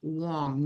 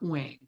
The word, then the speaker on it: Wong: TSU and he goes the middle word is pronounced Wong not Wang it's like that's really